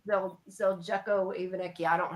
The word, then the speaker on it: Zeljko Ivanek: His name is Ivan Zelnik. I'm saying it wrong. I'm sorry. Yeah, Zeljko Ivanek.